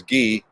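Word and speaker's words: Guy: my wife drives is ghee g-u-y but pronounced in the french way um yep my favorite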